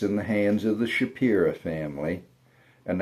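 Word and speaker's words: Shapira: That's in the hands of the Shapi family. And that's not just a southern pronunciation. The last letter of the word is A, not O. A.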